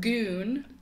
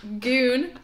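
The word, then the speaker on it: Gune: Goon. Goon? Yep. Goon.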